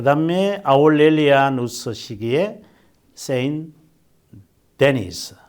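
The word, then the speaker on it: Saint-Denis: 그 다음에 아울렐리아누스 시기에 세인 데니스. 근데 이제 이 세인 데니스라고 되어 있는데 이것이 이제 프랑스 사람이군요, 이 사람이. 그래서 발음을 뭐라고 하느냐면 생드니라고 그래.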